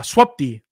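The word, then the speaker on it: swupd: clear linux's update tool uh swapdi that's how you pronounce that by the way um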